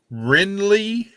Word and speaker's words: Wrenley: Rinley Jade. Oh, It's the name she came up with. It's spelled WRENLEY and then space Jade, JADE.